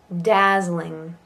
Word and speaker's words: dazzling: Dazzling. Dazzling. We kind of stick an extra syllable in there. Dazzle, because dazzle, but dazzling.